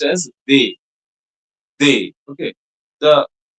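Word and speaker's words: des: And the and the third one which is used before any plural noun will be pronounced as they.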